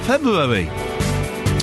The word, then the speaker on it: February: That's how you say it. There's an R. There's an R there. FEB R. February.